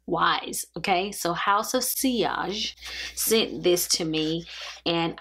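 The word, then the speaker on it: Sillage: I received the Signature Collection from House of seage that's how you say it in French I thought it was cage but the L's are wise okay so House of seage sent this to me and I have been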